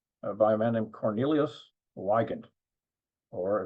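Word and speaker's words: Weygandt: a man named Cornelius Wen or if you prefer the German pronunciation viant w y g- n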